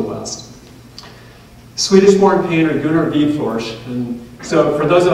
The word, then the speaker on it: Widforss: can feel free to say goo in our wood force which is how looks phonetically but the correct pronunciation and people always wonder about this is bead force with just a little bit of a sh